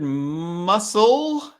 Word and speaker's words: muscle: that doesn't have a sound in the word muscle the sea is silent very good irene so muscle muscle we